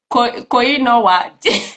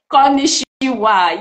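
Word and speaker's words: こんにちは: Yes, I think the pronunciation is Koinowa. Now I've forgotten. Konnichiwa. Yes. Konnichiwa.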